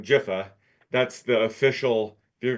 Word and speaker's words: Giffen: Um, and like I you pronounce his last name Jifa.